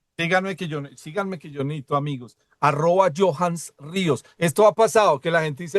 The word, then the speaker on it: Johans: Yo soy Johans Ríos, usted lo pronuncia muy bien, Germán, punto a favor.